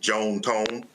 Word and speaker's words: John Tom: John Tom is my grandpa. It's his first and middle name, and it's what his family affectionately called him. They were Southern from Mississippi, so they pronounced it Joan Tone.